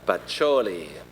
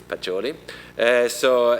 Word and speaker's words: Pacioli: That is the Franciscan monk Fra Luca Pacioli. I hope I pronounce it correct, if there is some Italian here. So I think it's Pacioli.